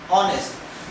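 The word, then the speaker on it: honest: इसको हम पढ़ते कैसे हैं, ऑनेस्ट। मतलब एच इसके अंदर साइलेंट हो जाता है।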